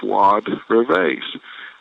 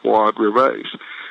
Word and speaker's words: Fuad Reveiz: Pronounce it for me. So I said, Fuad Reveiz. And he said, one more time, slowly. I said, yes, sir, Fuad Reveiz.